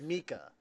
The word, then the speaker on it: Mike: I've been calling him Mike this whole time. No, you studied German. You know damn well his name is pronounced Mika. No, it's fucking Mike.